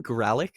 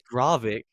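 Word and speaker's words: Gravik: is really cool um did you call him gralic as well Relic Relic how do you say it it's gravic it's a vein oh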